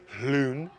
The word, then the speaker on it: Lune: Lune, the Gulf of Lune, that's right, pronounced Lune, like cool whip. The way that Stewie Griffin would say, cool whip. You gotta say Gulf of Lune with an H.